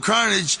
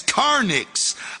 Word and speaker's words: carnage: As we tried to mix the title track, Carnival of Carnage, that Esham had made for us, we listened to the words and discovered that Esham had mispronounced carnage as carnix.